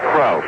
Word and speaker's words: Krause: Krause is spelled Krause, K-R-A-U-S-E, but he pronounces it Krause.